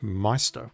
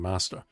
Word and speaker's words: Meister: Oh, so you pronounce it Meister, which I thought was the correct way of pronouncing it, but everyone else is saying Master. Yeah, it's just an English localization thing.